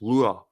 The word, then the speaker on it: Lugaid: the honorific Mo, plus the original name Lugaid, pronounced Lua, plus the endearing suffix.